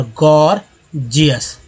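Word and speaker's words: gorgeous: और दूसरा जी को, पहला जी को ग दूसरा जी को ज उच्चारण होना, गॉर्जियस।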